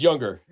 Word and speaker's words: Junger: say it younger Jer how do you say it younger J NR but it's younger well thanks so much